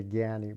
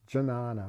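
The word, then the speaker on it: jñāna: an unga of gianni we always say gyani but it's janana really if you want to speak sanskrit and not bengali or hindi or something china so these are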